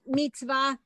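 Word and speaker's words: מצוה: That's definitely, no, that one's Mitzvah. definitely silent because I know the word.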